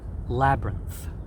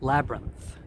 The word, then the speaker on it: labyrinth: a noun together students labyrinth please pronounce the th at the end labyrinth labyrinth in Korean you guys